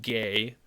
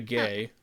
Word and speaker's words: Guay: Drew Tucker um Rebecca her name looks like it's spelled guay g-u-a-y but it's apparently pronounced gay so Rebecca gay uh and um what